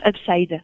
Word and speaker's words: Hubside: Ça se prononce Upside.